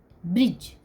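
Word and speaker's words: bridge: डी जी ई ब्रिज ब्रिज में जी के पहले डी है तो यहां पर बी आर आई जी ई ब्रिज इसका उच्चारण हो रहा है डी लिखा गया है किंतु यह साइलेंट है तो ब्रिज मीस पुल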